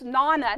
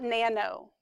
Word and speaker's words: nona: yes, it's nana, not nano. Yeah.